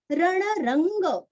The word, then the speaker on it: रणरंग: रणरंग, रणरंग, यहाँ पे वांग्मय का ग और नीचे दूसरा ग पूरा है, गणपति का ग।